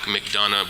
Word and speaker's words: McDonough: know where McDonough is not know how to pronounce it like McDonough because it's not really the way it looks in the spelling you would not know